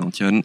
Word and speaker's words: Antton: du tout en tient c'est un prénom basque voilà donc j'ai grandi au Pays Basque donc c'est pour ça que je m'appelle Antoine et que les deux t se prononce tu vois voilà c'est le piège dans mon prénom voilà maintenant on saura